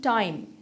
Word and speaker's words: thyme: THYME टाइम, बिल्कुल जैसे अभी जो मैंने आवर का के बारे में बताते हुए बताया कि टाइम का यूनिट है, तो ये THYME है, इसकी प्रोनाउंसिएशन सेम वही है. ये TIME टाइम का होमोफोन है. टाइम, नॉट टाइम, इट्स टाइम.